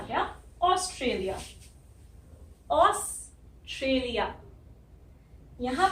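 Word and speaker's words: Australia: सबसे पहले तो ये ए यू जो है इसको हम ओ बोल रहे हैं, ओ। हिंदी में हमारे पास ओ होता ही है, तो हमें ये बोलने की आदत है, ओ। उसके बाद इस एस की सॉफ्ट साउंड है, हल्की साउंड है, ऑस्ट्रेलिया, ऑस्ट्रेलिया, तो ये आधा सा आ जाता है। फिर आर की भी हल्की साउंड है, और ये टी आर को हम ट्र बोलते हैं, ऑस्ट्रेलिया, ट्रेलिया।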